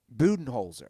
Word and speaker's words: Budenholzer: Budenholzer. Is that how it's pronounced?